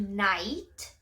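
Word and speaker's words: knight: A escrita, vocês vão perceber que não é tão diferente assim, é só um K, né, em frente do cavaleiro, só que esse K no início a gente normalmente não pronuncia.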